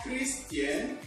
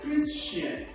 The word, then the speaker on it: Christian: Okay, that word is not Christian. Rather, that word is Christian. Christian. Remember, it's not Christian, but Christian. That means there will be C sound, that's S sound, before she sound.